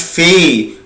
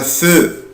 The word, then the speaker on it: faisons: ما بقولش نو faisons غلط. ما بقولهاش في. بقولها فو. faisons. nous faisons. طب هي فين يا مستر الأو؟ قال لي الأ يبنطها أو. يبقى nous faisons.